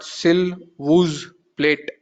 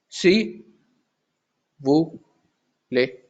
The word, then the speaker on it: s'il vous plaît: is vous, play, plai, So it's not sil wooz plate. Generally, if you pronounce, you'll pronounce it like this. Sil wooz plate. It's not like that. It's si woo play. It's not pronouncing the last alphabet.